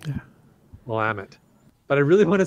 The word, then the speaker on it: Willamette: longer allowed yes and I think it's Willamette but Willamette okay yeah you're right there isn't an extra eye in there that I was pronouncing yeah Willamette but I really want